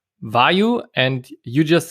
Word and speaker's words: Vayu: Everybody is pronouncing it a little bit different. I heard also Vayu. So from the English name, Vayu, like a person questioning. So there are different ways.